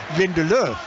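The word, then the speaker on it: Lindelöf: But it's probably me, you know, putting you off the United player, which is spelt Lindelof, but I'm categorically assured that the pronunciation is Lindelof.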